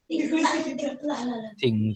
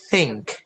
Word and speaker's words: think: Maka kalian enggak boleh bilangnya ting ting. Tapi gimana? Think.